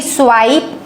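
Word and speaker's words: swipe: अगर आपको स्वाइप लिखना है तो SWIP, पर आई का ओरिजिनल साउंड चाहिए तो ई लिखना पड़ेगा, तभी स्वाइप आएगा।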